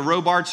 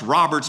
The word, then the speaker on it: Robarts: the Robart sports arena that actually should be pronounced Roberts because that was the name of the family that donated it and for baseball we'd